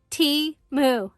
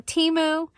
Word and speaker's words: Temu: introduce you to timu it is pronounced T moo like a cup of tea and a cow moo so Teemo you've seen several of